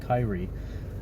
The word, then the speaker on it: Kyrie: tales of kai of i said kyrie which is which is perfectly acceptable if you want to call it that so long as you